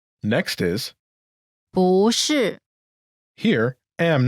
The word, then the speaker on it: 不: 不是 Pronunciation note: when 不 is followed by a fourth tone, its tone changes from the fourth tone to the second tone.